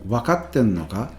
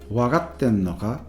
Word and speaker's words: 分かってんのか: If you listen to Jet saying wakatten no ka, it actually sounds like he's saying wagatten no ka with a G, to put it crudely, rather than with a K, right?